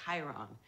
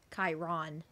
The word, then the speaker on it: Chiron: Bruner's real name is Chiron. Camp Activities Director, immortal trainer emphasis of on heroes. The O? He's been saying it wrong my I'll whole life. I'll take it from here. Chiron.